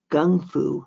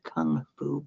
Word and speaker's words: kung fu: It includes a timeline of his life and a brief bibliography and and it's um apparently it was always pronounced gung fu not kung fu but somehow it got changed somewhere according to the book.